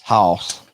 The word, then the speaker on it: Hoss: The correct way to say his name is Hoss.